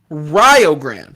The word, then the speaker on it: Rio Grande: up i i got a note on the pronunciation it's rio grande so the rio grande red storm from ohio